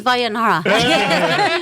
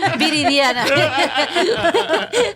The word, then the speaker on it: Viridiana: He pronounces Vayanara. Viridiana. No, it's a really hard name to pronounce. It took you 10 years to learn how to pronounce it? Well, the D's and the R's get a little. It's like a V, D, the R. I know.